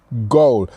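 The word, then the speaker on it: gol: Goal. So it actually means goal. So it actually sounds the same as the English word. It's just you pronounce it minus the A. So it's G-O-L instead of G-O-A-L.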